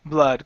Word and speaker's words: blood: enters the bloodstream okay instead of blah BL blood close your mouth just